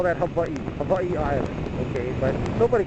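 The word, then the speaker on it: Hawaiʻi: Hawaii is act in Hawaiian it's actually pronounced AI the W is pronounced like a V but everybody just calls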